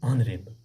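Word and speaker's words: honourable: हम H silent पे रखते हैं और ओ पढ़ते हैं, इसको बोलते हैं ऑनरेबल डियर स्टूडेंट्स।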